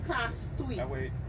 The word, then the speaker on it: Castries: It is rightly pronounced cast.